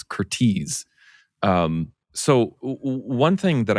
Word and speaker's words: Curtiz: Curtis is is Hungarian American. That's why it's pronounced that way because I was I couldn't remember and I called him Curtis for years. It's Curtis.